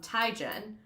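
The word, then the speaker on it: Teigen: I actually saw a thing where Chrissy Tegan was like, "Everyone calls me Chrissy Tegan, but it's actually Chrissy um Tyen."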